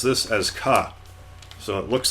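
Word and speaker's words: か: vowel and makes up a single syllable you pronounce this as kaat so it looks like a 4 that's doing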